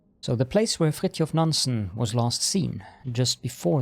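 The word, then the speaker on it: Fridtjof Nansen: nanson was last seen yes I am Norwegian if you didn't know and yes that's how you pronounce it in Norwegian so the place where frit of nansen was last seen just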